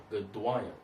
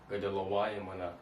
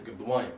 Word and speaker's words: Gadwalim: where as though you pronounce it as Gadwalim, not Gadalawayim. You understand that? Not Gadalawayim. It's going to be kind of a tongue twister in this thing. It's Gadwalim. You understand? Kabal Gadwalim. That's how you say it.